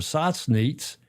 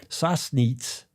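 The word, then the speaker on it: Sassnitz: The stunning Black Sea resort town of Satnit. Sassnits. It used to be spelled with an S set with a B.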